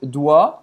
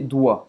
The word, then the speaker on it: doigts: Vou prestar atenção aqui, doigts, só vou pronunciar esse doigts, doigts, doigts. Não vai pronunciar nem o G, nem o T, nem o S.